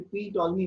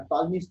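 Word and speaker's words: Ptolemy's: पी silent है ना, इसलिए पी टॉलमी मत पढ़ना, टॉलमीज थ्योरम।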